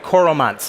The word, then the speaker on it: Coromant: have been driving added value services with Sandvik Coromants. Is that how you pronounce it?